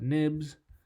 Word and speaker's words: xib: let's head to our nib for the cell or xib still to this day ten years later I don't know why people call it nibs even though it's spelt with an X but let's add a